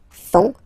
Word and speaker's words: font: And ils, plural, font, final T not pronounced, font, elles font.